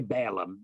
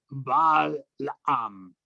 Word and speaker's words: Balaam: In your gathering, you have those who hold to the teachings of Balaam, or we say Balaam in modern English, Balaam, but it's really Balaam is how you pronounce that in Aramaic.